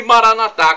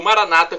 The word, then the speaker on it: Maranata: E Maranatá, como dizemos nós católicos, ou Maranata, como dizem nossos irmãos separados, os evangélicos ou protestantes.